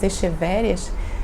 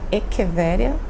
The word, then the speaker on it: echeveria: rosas de pedra, né, as echevérias, que na verdade se pronuncia echeveria, meia sombra, né, que